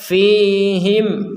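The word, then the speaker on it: فيهم: tertu tertulis jadi kalau ada mim sukun kok sukunnya tertulis maka dibaca dengan jelas mimnya itu fihim rasula jelas itu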